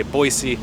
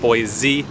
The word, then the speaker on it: Boise: or not they say boise instead of boy z with a z sound i'm not originally from